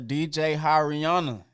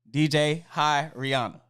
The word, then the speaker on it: DJ HiRihanna: DJ like you waving at somebody. Then Rihanna, like the singer. DJ HiRihanna.